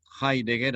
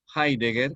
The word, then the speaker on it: Heidegger: dijo el gran filósofo que desarrolló el existencialismo heidegger alemán se escribe con h heidegger y doble g h d ser un doble g heidegger creador del existencialismo considero que el hombre es